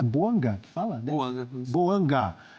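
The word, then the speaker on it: Bouanga: E tá certo a minha pronúncia? É Boanga que fala?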